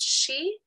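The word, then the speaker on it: sidhe: their name being the she um which the she are it's pronounced she but it is spelled s-i-d-h-e so if you ever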